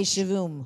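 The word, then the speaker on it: שבעים: I love to spell it because then if I don't pronounce the Hebrew correctly, it's S-H-A-V-U-I-M. Say shavim. Shavim is 70 and shavim is 7.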